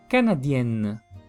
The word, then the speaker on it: canadienne: agregar otra n y la pronunciación la diferencia sería n corta n larga sí lo mismo que vimos con con la la mexicano y mexicano n corta n larga n corta masculino n el larga femenino Por así decirlo sí